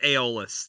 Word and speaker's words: Aeolus: It is Aeolus. That is the official pronunciation.